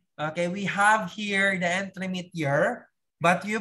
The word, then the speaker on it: entremetier: Okay, we have here the entremetier, but you pronounce it entremetier.